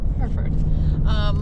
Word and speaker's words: Hereford: Hereford. Like the cow.